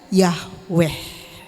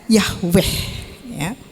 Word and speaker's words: Yahweh: di dalam Perjanjian Lama ditulis dengan kata y h b dengan huruf besar semua membaca membacanya yaitu Yahweh yang artinya apa aku adalah aku ya Aku adalah aku membacanya Yahweh nah Hai aku adalah